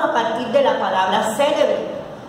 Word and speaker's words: célebre: Pues la palabra célebre lleva tilde en la E, en la antepenúltima sílaba es esdrújula.